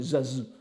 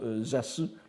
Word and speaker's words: Zasu: Alors il y a aussi une prononciation très fréquente au Japon de Zasu, c'est Zazu. Mais évidemment, vous voyez qu'en français, le grand Zazu du Tendai ne sonne pas de la même façon, donc je préfère garder la prononciation Zasu, le grand Zasu du Tendai.